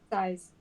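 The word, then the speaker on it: sais: How do you pronounce that? Size? Size.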